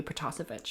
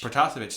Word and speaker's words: Protasevich: I'm only going to correct your pronunciation on the Russian one. You did the French one pretty good, but I think it's got to be Protasevich. Protasevich, thank you so much.